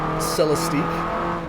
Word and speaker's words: Celestiq: One of the cars that John mentioned to bring up is, and it looks like it's pronounced Celestique.